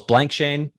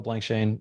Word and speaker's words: Blankschaen: can't do it there two syllables blank Shane blank Shane and it's a pleasure